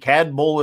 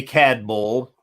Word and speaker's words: Cadboll: this is brand new to the market Glenmorangie CAD Bowl estate 15 years old American oak bourbon cask